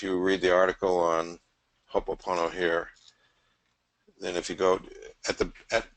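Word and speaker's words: Hoʻoponopono: unique and brilliant technique, Hopopono. Am I saying it right, Andrew? Well, Hopo- we could Oh, just say hopo for short, but it's ho'oponopono.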